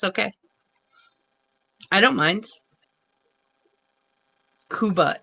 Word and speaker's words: Cuba: Harvey I love the name Harvey it was it was kuba I love that it's pronounced kuba and its Cuba it's spelled Cuba it scuba